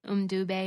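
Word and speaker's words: Mbube: And they had done a bunch of them, and then with the Weemaway, but they called it Mdube, I believe is how they pronounced it, Mdube instead of Weemaway.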